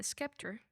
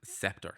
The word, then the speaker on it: scepter: She used the diamond um on a Skeptor. Is that how you pronounce it? Scepter. Scepter. Um yeah, the spelling of it looks like Skeptor, but it's on the scepter.